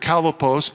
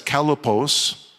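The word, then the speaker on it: χαλεπός: And the word perilous is the Greek word kalopos. It's only used two times in the New Testament. You spell it C-H-A-L-E-P-O-S, kalopos.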